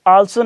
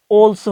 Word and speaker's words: also: Word आल्सो नहीं है, ऑल्सो है, ऑल्सो।